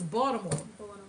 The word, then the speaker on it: Baltimore: It's Baltimore. It's not no Baltimore. What the hell is the Baltimore? Who pronounces the L?